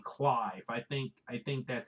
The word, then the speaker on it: Clive: cliff or whatever but Clive which is by the way for those who you don't know it's belt CL I ve ve is it rhymes with five Ryan's book five I